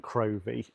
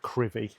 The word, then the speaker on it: Crovie: It says Crovie, and for ages, when I first moved up here, I was saying Crovie, but it is pronounced Crivy, and I was corrected by the locals. So Crivy, not Crovie.